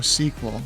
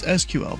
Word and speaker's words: SQL: It's pronounced, oh, sequel. Okay, it's SQL, bro.